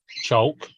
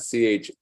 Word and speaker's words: chalk: Chalk. Chalk? Chalk? I think it's chalk. CHALK. However I want to fricking say it. CHALK, not CHOLK.